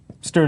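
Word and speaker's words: std: use a stood list stood is how I pronounce the standard name space um what it is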